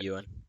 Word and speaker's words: Ewan: Whenever you first meet Obi-Wan, they then do like they then show Ian McGregor, or however you pronounce his first name. Ewan.